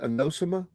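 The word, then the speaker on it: anosmia: The uh the anosimma is how you say it. Anosma.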